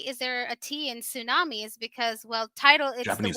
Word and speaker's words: tsunami: there a tea in tsunamis because well title is the word for tidal wave in Japanese but it's pronounced SU tsunami not me so what are you